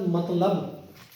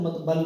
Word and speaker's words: مطلب: اب آپ دیکھیں گے یہ لفظ مطلب, اس کو بہت سارے لوگ مطبل بولتے ہیں, الٹا بولتے ہیں مطبل.